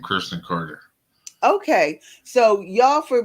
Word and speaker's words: Kurston: uh is is it is this my name Kirsten Carter okay so y'all for my listening audience his name is spelled k-u-r-s-t-o-n last name Carter c-a-r-t-e-r so y'all